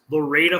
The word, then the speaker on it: Lorida: this for years right it's pronounced Laredo Florida but it's spelled Florida without an F so I actually had